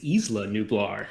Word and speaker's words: Isla Nublar: have to correct you it's isla nublar i made the same mistake what everybody else who played this game because it's a very specific pronunciation oh well look here's